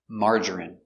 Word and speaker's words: margarine: don't like margarine pronunciation margarine M ah open Sound a m mar mar J J strong J Marge ER marger marger I Margery Margery margarine margarine margarine three syllables stress on the first syllable Marge margarine margarine I